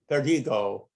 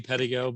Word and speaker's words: Pedigo: to give uh verdigo is that do i have your name pronounced correctly are you there yes sir i'm here it's it's actually pedigo but petticoat uh yes sir